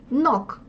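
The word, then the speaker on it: knock: слово из этого правила если слово начинается на кей н чтобы не забыть когда пишете написать то букву кай нок ног ту ног это стучать то есть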